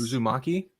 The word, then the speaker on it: Uzumaki: It'll be we'll be talking about, I'm so iffy on the pronunciation. Is it Uzumaki? Yes. Uzumaki, which is the Junji Ito classic horror manga.